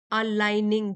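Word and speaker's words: aligning: your dream life means अलाइनिंग अलाइनिंग ji silent है अलाइनिंग passion with purpose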